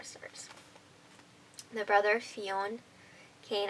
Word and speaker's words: Fionn: The brother Fionn, Kane, I think it's pronounced Finn, but I'm calling it Fionn because I have fun. We're gonna go. It's not spelled like Finn though.